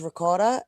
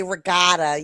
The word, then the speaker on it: ricotta: Well, you know, a lot of people say rigotta. You got to eat rigotta cheese.